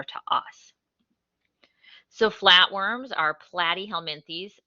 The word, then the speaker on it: platyhelminthes: us so flatworms are platyhelminthes plat rhymes with flat they have no body